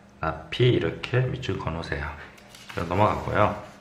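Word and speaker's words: ~p: 이거 물결이 아니라 낫이야. 낫이라고 발음한다. 낫피, 이렇게 밑줄 그어놓으세요.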